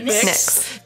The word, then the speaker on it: Nyx: Nyx. Did... NYX, that's how it's spelled, FYI. Yeah, like the... like the goddess. Okay. Or also the makeup.